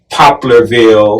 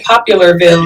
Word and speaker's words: Poplarville: And Poplarville. Mm-hmm. Yes. Did I say it right? And that's rare because a lot of people say Popularville.